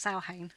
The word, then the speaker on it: Samhain: Samhain, it's actually pronounced Samhain.